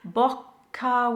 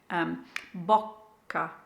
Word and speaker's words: bocca: Bocca with a double C, so you just need to stop the airflow slightly. Just think of it bocca, bocca, to get that double C sound.